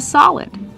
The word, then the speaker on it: solid: It's a solid. That's right. It's called a solid. Pronunciation. Use the open ah sound like hot and stop.